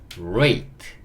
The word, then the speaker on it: rate: E는요. 묵음. 예. 묵음. 굉장히 익숙해지고 있죠. 자, 그리고 마지막에 얘가 묵음이니까 짝이 없잖아요. 그러니까 으 소리 달아주는 거죠. 자, 그러면 RA가 만나서 ray. T가 만나니까 t. rate. rate 이렇게 읽을 수 있고 rate라는 단어의 의미는 비율이에요.